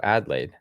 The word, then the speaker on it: Adlai: but for now, oh, Adlaid. Thank you, Mary. Let's let's highlight this one. Adlaid. weird because there's no um there's no D at the end.